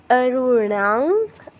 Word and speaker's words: অরুণাং: অরুণাং, অরুণাং, রাতে দীর্ঘ হবে, তারপর অনুসার উচ্চারণটা ঙা হসন্তর মতো হবে।